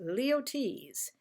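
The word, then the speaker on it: Luyties: tell you how to pronounce it and it's pronounced leotes this company was founded in 1853 but perfumes came out about 1916.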